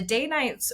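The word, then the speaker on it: Danites: maybe goes into government as well uh the day nights were an organization that were created right around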